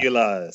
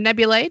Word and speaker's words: nebulae: Nebulas. Woohoo! Nebulas or nebulae, depending on how you want to pronounce that.